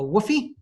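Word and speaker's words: WFOE: enterprise sexually I guess in the biz pronounced a Woofie and in doing so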